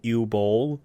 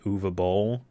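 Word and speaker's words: Uwe Boll: i guess i had always called him ew bowl but the movie pronounces it uva bowl or whatever uh he made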